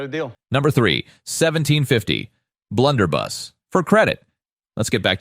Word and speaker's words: blunderbuss: man it's a 1750 blunderbust okay blunder bus not bust the Blunderbuss was a